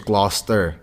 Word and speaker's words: Gloucester: So it's Gloucester. Gloucester. But look how it is though. Like how I know it's spelled.